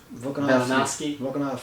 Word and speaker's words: Volkanovski: Volkanovski.